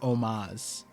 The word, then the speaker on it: homage: Is homage is pronounced omaz.